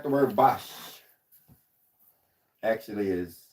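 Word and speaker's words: Bosch: You know, that's important to understand like because sometimes a word is pronounced differently than it's spelled, right? Say like the word bos actually is s more like bos.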